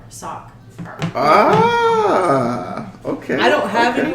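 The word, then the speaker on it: Sockher: I'm soccer mom but it's not spelled soccer like soccer ball it's spelled so c k h e r sock ah okay I don't have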